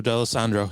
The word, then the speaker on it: Dallesandro: of the subjects of that song was Joe dalessandria did I pronounce his right name right yeah Joe D'Alessandro yep yes that was Little Joe The Hustler